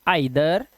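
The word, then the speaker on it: either: कुछ शब्दों में इ आई का उच्चारण ए या आई होता है। जैसे यहां पर देखिए इसे पढ़ते हैं laser hey फॉर एंड इनविगल बट यहां पर इसे पढ़ते हैं आई आइदर नाइदर and psychic.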